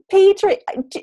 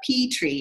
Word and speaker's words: Petrie: So I say it like Petrie, and that's not how you pronounce it. They say it's Petrie.